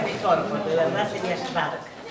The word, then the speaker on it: Szwarc: Schwarz, pero él lo pronuncia mejor, porque de verdad sería Schwark. O sea que vos lo pronuncias mejor.